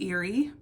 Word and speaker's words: Erie: Next we have Eerie. Like Lake Erie if you're from the Midwest.